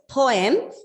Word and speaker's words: poem: This word has got 2 syllables. Poem. Okay? It's poem. Starts with a plosive pa and m. Poem. Okay. So if at all, don't get confused and don't ever use the word poem. Don't pronounce the way, don't pronounce it like poem. It's poem. Yes.